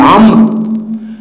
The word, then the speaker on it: عمرو: اللي هو في كلمة عمرو، عندي هنا هنقول الواو في كلمة عمرو، الواو في أولئك برضو